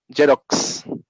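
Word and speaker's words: Xerox: এক্সের উচ্চারণ জ হয়, জেরক্স।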